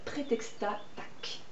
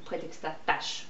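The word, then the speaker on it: Prétextat Tach: plus à coucher dehors qui s'appelle Prétexta Tac ou Prétexta Tâche, prononcez ça comme vous voulez.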